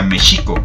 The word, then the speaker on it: México: U otra más, se supone que como hoy decimos México, como palabra esdrújula, en esa época sería Mexico.